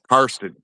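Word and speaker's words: Karsten: I think with the way I say it, sometimes it disappears, but it's basically an R in between. So it's So like Carson, not Carsten. yeah.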